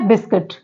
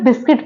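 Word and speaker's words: biscuit: इसके एग्जांपल्स देखते हैं वर्ड है बिस्किट तो इसे बिस्किट पढ़ते हैं बिस्कुट नहीं पढ़ते हैं ठीक है क्या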